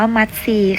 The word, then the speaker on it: มัทรี: แซ่บ โทรม ไฟ พุทรา คำ นี้ นะ คะ อ่าน ออก เสียง ว่า มัทรี ค่ะ มัทรี คล้าย ๆ กับ